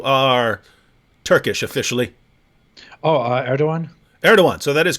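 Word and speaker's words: Erdoğan: asked your position on it's spelled Igan but it's like erdogan right something like that yeah yeah yeah yeah erdogan wait hang on hang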